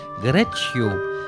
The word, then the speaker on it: Greccio: Vous avez vu comment ça se prononce? C'est en italien, Greccio, en 1223.